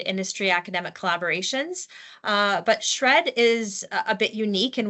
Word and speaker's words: SR&ED: abbreviated as srn and we pronounce it as shred uh and it's the